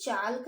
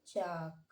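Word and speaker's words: chalk: Next है, अब हम इसे चाल्क नहीं पढ़ेंगे, अब हम इसे पढ़ेंगे चाक, और इसे हम पढ़ेंगे पाम, PALM।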